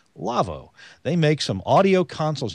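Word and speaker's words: Lawo: in part by our friends at Lavo l-a-w-o pronounced Lavo they make some audio consoles you know they've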